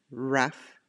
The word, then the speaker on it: rough: further further oh you rough and enough the GH sounds like the F sound rough and enough the